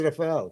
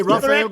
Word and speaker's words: Rafael: because Raphael is usually more like a Spanish name. American way to say it. But in Brazil, in Portuguese, they don't pronounce the R is it's an H.